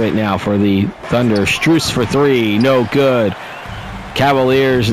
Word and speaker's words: Strus: Stress with a jump shot. That is good. Or Max Strus, I should say. I've been saying his name wrong the entire time.